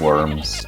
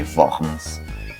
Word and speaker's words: Worms: of the assembly housed in the city of worms or should i say vans as it is pronounced the german and here martin luther was